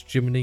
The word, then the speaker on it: Gemini: of this uh for Germany or Gemini I think I should say Gemini it's Americans that say Gemini it's Jiminy equipment uh cricket it's not